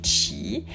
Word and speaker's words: qi: et d'harmonie du cheap on appelle çi mais ça s'écrit qi c'est l'énergie vitale et